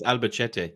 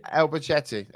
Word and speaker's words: Albacete: I think it's Albacete. Albacete. Okay, there you go. I thought that was a bit too Italian to pronounce it like that.